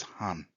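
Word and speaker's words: 半: kanji means half and the pronunciation of it is han the words that you'll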